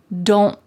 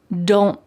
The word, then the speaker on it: don't: So it's not wrong to say, don't get bent, but when you hear fast American English speakers, you're going to hear them stop the T in their mouth.